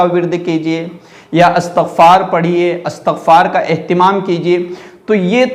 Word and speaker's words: استغفار: کہ استغفار کا ورد کیجئے یا استغفار پڑھیے، استغفار کا اہتمام کیجئے۔ تو یہ تلفظ صحیح اور درست نہیں ہے۔ اصل اور